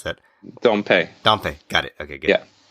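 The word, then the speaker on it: Dompe: dump or dumpe or how how do I pronounce that dumpe dumpe got it okay good yeah yeah so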